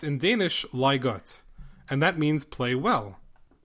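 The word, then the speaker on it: leg godt: second word is g o DT but it's pronounced in Danish liot and that means play well Lego also means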